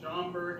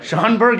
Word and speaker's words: Schaumburg: And we have made it to, Pat, pronounce it for me. Schaumburg, Illinois. Schaumburg, Illinois.